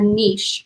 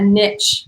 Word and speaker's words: niche: to decide upon a niche or a niche or a niche it's n-i-c-h-e however you decide you want to pronounce that is your prerogative but you need to